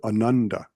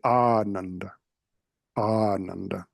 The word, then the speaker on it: Ananda: word Ananda for instance there's a tendency to put the accent on the second the next to the last or the second Ananda it's actually Anand aand so instead of paramahansa